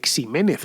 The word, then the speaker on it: Ximénez: la mancha' pero claro con esa equis pronunciada como j porque la equis tenía esa posibilidad en aquel entonces de hecho conoceréis a alguien que se apellide ximénez por ejemplo o lo habréis